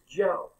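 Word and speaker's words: Zhou: So the deal is, she said it's Joe. So Z-H-O-U.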